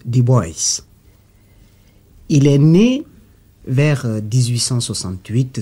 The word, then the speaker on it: Du Bois: africain de la diaspora son nom s'écrit du bois ça se prononce du bois il est né vers